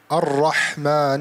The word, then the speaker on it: الرحمن: Harf al-ra. Ar-Rahman ar-Rahim. Don't say ra also.